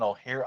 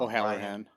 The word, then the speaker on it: O'Halloran: Brian O'Hare. I always say his name wrong. O'Halloran.